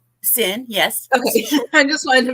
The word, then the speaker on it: Cyn: to the show Hello thank hello am I pronouncing that correct sin yes I just wanted to make sure yeah